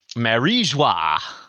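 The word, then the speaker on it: Mary Geoise: Um they have flashbacks of the holy land Mary Joyce. Marijua is that what how you pronounce it?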